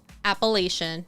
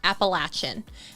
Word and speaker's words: Appalachian: following her, she was saying that people miscommonly pronounce Appalachian, and that it's technically Appalachian.